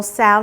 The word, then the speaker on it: Tso: Let's get started with this General Tso Chicken, and yes, I'm pronouncing it right.